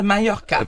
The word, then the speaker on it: Mallorca: Claudia, donc, Majorque, comment on prononce ça? Palma de Mallorca.